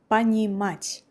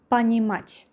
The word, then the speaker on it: Понимать: Понимать. The same thing with the vowel O here, pronounced like A. Понимать.